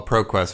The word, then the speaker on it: Pro Quest: Well, Pro Quest rhymes with Conquest.